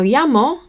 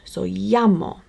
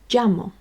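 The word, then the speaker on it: llamo: pronounced the same where the English spell and pronounce main is in come with me so it's just me okay now yamo on its own is a word that may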